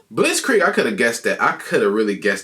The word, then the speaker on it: Blitzkrieg: We pronounce it Blitz Creek.